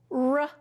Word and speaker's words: rode: What if I want to make it say road? Road, like I rode in the car. Right, I have to have a silent E to make the O say O. O consonant E says O.